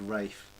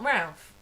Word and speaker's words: Ralph: Yeah, it's spelt Ralph, but it's said Rafe because he's quite posh. If it's spelt Ralph, it's Ralph. No, if you're posh enough, you can decide how your name's pronounced. Oh.